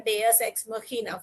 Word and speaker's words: Deus ex machina: See, the pronunciation is very peculiar. Deus ex machina.